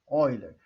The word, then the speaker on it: Euler: Se escreve Euler, mas se lê Euler.